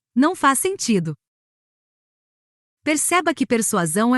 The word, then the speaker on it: persuasão: conceitos Morais para finalizarmos não se pronuncia A persuação com dois sons de S nem persuasão com dois sons de z e sim persuasão com som de s e z em sequência e se escreve persuação